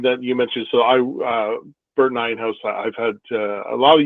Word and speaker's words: Nijenhuis: It's properly pronounced Nijenhuis, but in reality, everybody says Nijenhuis.